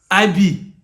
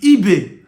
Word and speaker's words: Ibe: So in Liverpool, there's a player called Ibe. But English people are calling it IB. They are calling it IB. Do you get? But the name is Ibe.